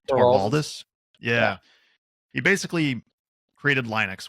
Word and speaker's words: Torvalds: Linus, am I pronouncing his last name right? Torvalds?